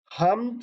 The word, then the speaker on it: حمد: تلفظ کو سمجھ لیں۔ حمد لفظ ہے، ہے کے اوپر زبر، میم کے اوپر جزم اور دال کے اوپر بھی جزم ہے، حمد کہیں گے اس کو، آپ نے حمد نہیں پڑھنا، اور اسی طرح سے